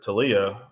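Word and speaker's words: Taulia: And then the other one, I'm kind of impressed with Tua's younger brother, Talia, which I didn't know that's how you pronounce his name.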